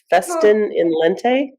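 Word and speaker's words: Festina lente: Festin in lente.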